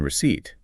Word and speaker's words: receipt: They need to feel what it's like to skip the silent P in receipt.